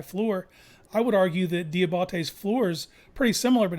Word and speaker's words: Diabate: and then it's Diabate. That's the actual. Diabate.